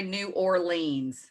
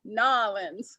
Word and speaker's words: New Orleans: i i had a definitely do not say new orleans new orleans so when i took a trip down to new orleans i went down there and they were like no you got to say it like newlands it's the collins actually